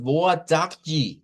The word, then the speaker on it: boa: Miren otra vez el mismo patrón ve la a al final. Eso lo vamos a ver siempre que la a esté al final de una palabra en portugués. Esta es la a que vamos a usar.